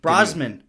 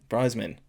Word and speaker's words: Brosnan: Sorry, we were talking about Pierce Bronson. It's like Brosnan. Brosnan.